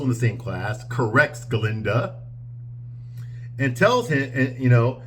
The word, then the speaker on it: Galinda: when he's talking to students okay he he mispronounces Glenda's name now Glenda's name right now in the movie is galinda ginda that's her name not Glinda she doesn't change it until later on her